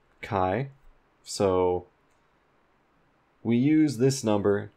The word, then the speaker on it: chi: this is pronounced or it's written Chi it's pronounced Kai so we use this